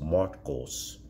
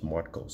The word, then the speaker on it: Marcos: And what's interesting is it is pronounced Marcos, M-A-R-T-K-O-S, Marcos.